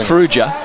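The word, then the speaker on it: Fugia: Fuja. So it's definitely a soft G. It's a soft G. Oh yeah. with with that Italian spelling. G I gives you J Fuja and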